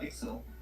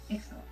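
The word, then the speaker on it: Iczel: before how is i c z e l pronounced uh excel excel okay i have that on the live stream you did emerge dragons when tulsi was on vacation last year and i forgot excel okay oh you're loud janet there's no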